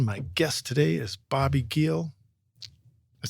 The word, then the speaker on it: Giel: I think the hard G throws people off. The J. But yeah, just it's German.